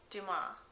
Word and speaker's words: Dumas: Monte Cristo by Alexander Dumas. I don't think you pronounce the S at the end.